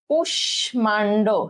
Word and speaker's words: কুষ্মাণ্ড: এখানে গিয়ে এই ময়ের উচ্চারণটা আর হবে না, ঠিক আছে? তাহলে কুষ্মাণ্ড, ঠিক আছে?